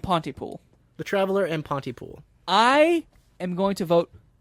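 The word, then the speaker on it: Pontypool: not to Ponte pool Pon pool can you spell that p o n t y p o o l oh Ponty pool that makes as little senses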